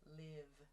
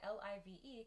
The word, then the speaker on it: live: however do be careful live l-i-v-e can also be pronounced live so that v sound i talked about where you use your vocal chords plus that open i sound live so like a live performance for example so you need to pay attention to the grammar of the sentence to understand if it's liv or live as well so life and live